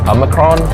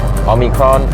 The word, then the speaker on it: omicron: be the army crown a micron omicron a micron difficult it didn't roll off the tongues like delta on the cross three syllables so a little bit